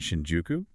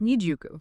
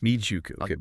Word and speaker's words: Nijuku: Kasushika's Shinjuku isn't Shinjuku. It's pronounced Nijuka. Nijuku. Nijuku.